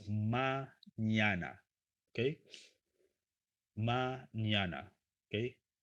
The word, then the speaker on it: mañana: Uh, how to pronounce mañana? Okay. Mañana. Okay. Mañana. Ña, ña. Remember that letter in Spanish, okay? Ña, ñe, ñi, ño, ño.